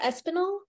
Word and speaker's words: Espinal: is it espinal it's espinal yes better than most people do espinal so the accent is on the E Yeah espanol okay now